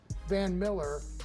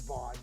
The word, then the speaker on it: Von Miller: Is it Vaughn? Von Miller. I'm not taking the Jags today because I can't pronounce it, and now I can't. It's Vaughn. You're right.